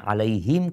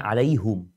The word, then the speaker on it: عليهم: Seharusnya alaihim, kok imamnya bacanya alaihum. Padahal itu memang ada qiraat seperti itu.